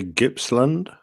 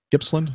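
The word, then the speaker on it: Gippsland: airan out of Texas I would say gibsland gibsland that's what okay I think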